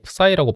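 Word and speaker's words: ψ: 그러면 p를 뭐 푸시라는 식으로 바꿨다고 생각해 보일 때 그 푸시라는 식에는 푸시는 근데 보통 사람들이 사이라고 발음합니다. 근데 그리스식 발음은 푸시인가 봐요. 표준어 대사전 보면 푸시라고 나와 있습니다.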